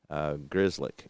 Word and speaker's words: Grzelcyk: So, let's see, Grzelcyk, I think is how you pronounce his name. Let me double-check that. Again, I looked into it, but forgot. Grzelcyk, yep.